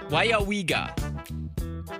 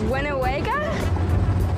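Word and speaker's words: Weyauwega: It's pronounced Wayawiga. Do you think any of them were able to pronounce Wayawiga? No. All right. Here we go. Wayawiga. Wayawiga. Wayawiga. Wenawega?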